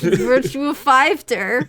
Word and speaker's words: Virtua Fighter: That's how it's pronounced. Okay. It's like Monster Hunter Double Cross. It's Virtua Fighter.